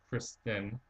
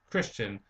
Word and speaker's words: Christian: My first name is pronounced Kristen. Oh, sorry, and it's not it's like I'm horrible with pronunciations. Um, it's actually pronounced Christian, like the religion.